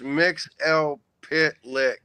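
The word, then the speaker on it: Mxyzptlk: Mixies Pitlick. That's how I pronounce it. It's according to DC, it's Mix L Pitlick. and you just kind of put it together. That's the Golden Age pronunciation.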